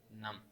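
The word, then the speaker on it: numb: उसके बाद फोर्थ में आपको कहता है द मेंस आर्म्स वर नम। अब यहाँ पर बी लिखा हुआ है एन यू एम बी, नम, ये नम नहीं होता, यहाँ से बी साइलेंट होगा, ठीक है।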